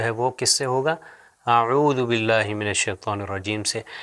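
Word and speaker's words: أعوذ: اس کو لمبا کر دیں گے عو، اعو، اعوذ، اعوذ۔ اب دیکھیں ہم جب قرآن کی تلاوت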